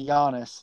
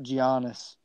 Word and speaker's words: Giannis: but it was a clarify to Yanis not g honest I know but I